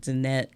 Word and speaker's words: Danette: And at Danette. And my name is spelled DAN, like Dan, ETTE.